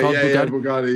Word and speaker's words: Bugatti: My son, we were in Florida for a vacation, and we saw a Bugatti, right? That's how you pronounce it. I don't know anything about cars. Okay, Bugatti, yeah.